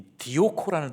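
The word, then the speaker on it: διώκω: 저 뜻을 이 헬라어 원문으로 보면은 이 디오코라는 뜻입니다. 디오코. 저 W처럼 생긴 거 있죠? 저게 O 발음으로 이제 읽는 거거든요. 디오코인데 이 뜻은 쫓다, 열심히 따라가다, 추적자가 대상을 추격하는 행위, 이런 의미로 사용이 되는 단어입니다.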